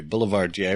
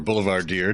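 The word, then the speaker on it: boulevardier: under a street lamp a boulevard jay or boulevard deer depending on how you take your french pronunciation would be a lovely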